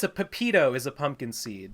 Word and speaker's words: pepita: is way worse isn't it no it's a pepito is a pumpkin seed not a pepino right pinot is like uh yeah copy and paste it i might be pronouncing it wrong even though my name is